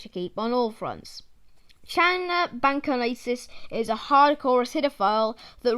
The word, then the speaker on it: Channa bancanensis: Scientific name: Channa bancanensis. Pronunciation: Channa bancanensis.